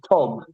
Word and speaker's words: tog: So in Yiddish, it's in German it's tag. In Yiddish, it's tog. Okay, so TOG would be the word.